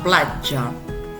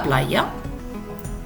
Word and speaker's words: platja: La platja. La platja. Cal evitar la pronúncia castellana, la playa.